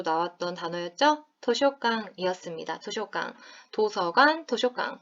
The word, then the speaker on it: 図書館: 도쇼강, 도서관, 도쇼강. 발음 굉장히 비슷하죠?